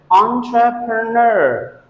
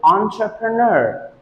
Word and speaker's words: entrepreneur: that is wrong because the correct pronunciation of this word is entrepreneur entrepreneur the trash goes on the last syllable so we have to pronounce it entrepreneur entrepreneur if you say